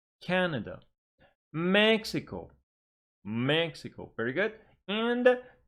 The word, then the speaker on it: Mexico: And now, 3 syllable words. Stress on the first syllable. Please repeat. Canada. Canada. Mexico.